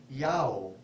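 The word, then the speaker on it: IAO: god spelled in the Bardic letters I-A-O and pronounced Yao, the same as the house of Israel's God.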